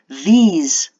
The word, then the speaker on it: these: These is pronounced with a long E sound and a Z, whereas this is pronounced more like E accent aigu with an S sound at the end, this.